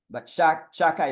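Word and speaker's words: Shaddai: That's how we're pronouncing God's name, but Sha-dai is Sha and then Dai.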